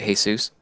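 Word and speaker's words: Jesús: Mexican by saying Jesus because they pronounce it hey soos I don't pronounce my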